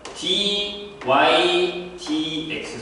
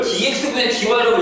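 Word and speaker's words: dy/dx: dy dx. 선생님이 뭐라고 했죠? 위에서부터 밑으로 얘기를 하셨어. 기억나죠? 이걸 dx분의 dy라고 읽으면 뭐라고? 선생님한테 배웠다고 얘기하지 말라고. 쪽팔리니까. 진짜예요. 되게 쪽팔린 얘기예요. dx분의 아니에요. dy dx입니다.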